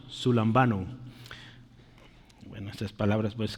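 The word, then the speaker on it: συλλαμβάνω: Eh, se dice sun sun lambano, sun lambano, sun lambano. Bueno, esas palabras pues es que es otro idioma. No esperemos que se oiga bonito necesariamente. Sun lambano, ¿sí?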